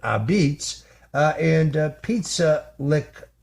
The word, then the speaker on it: apizza: His place is called Abitz which of course is the pronunciation of uh the word pizza spelled a p I za. That's how uh Italians say it. Abs.